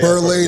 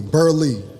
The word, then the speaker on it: Burleigh: One side of the family pronounces it Berlay. The others pronounce it um Berley. So, I'm on a lee. Berley.